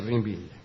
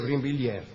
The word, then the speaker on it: Brinvilliers: ¿Quién era la marquesa de Brinville?